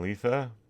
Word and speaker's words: Lietha: And Lietha, Lietha. You wouldn't believe how many mispronunciations I've heard of over my lifetime.